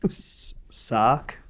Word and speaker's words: Sark: And this week we'll be talking about something that Jason refuses to say, even though it's just a one-syllable word. Sark. S-A-R-K.